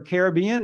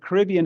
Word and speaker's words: Caribbean: is correct you can it's pronounced both ways uh my guess would be that Caribbean is more British they seem to like to to have as few accented syllables as possible and Caribbean only has one and Caribbean has